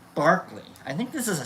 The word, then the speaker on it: Berkeley: I think it's actually pronounced Barkley.